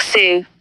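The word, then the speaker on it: Sioux: Make sure I'm saying it right. Standing Rock Sue. Okay. Yeah. See, I said it right. Sue, just to say it right.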